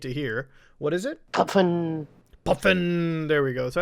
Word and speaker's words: pfn: Here you can hear a pronunciation, which I absolutely need to hear. What is it? Puffin.